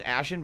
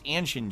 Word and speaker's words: Anshin: Oh, why do I pronounce Anshin as Ashen? Because I'm stupid. It's Anshin G forever.